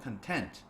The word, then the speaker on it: content: 저희가 이거를 명사로 쓰고요 강세가 다르죠 근데 여기서는 형용사로 content content 이렇게 발음을 합니다 그래서 재정적 성공 돈많이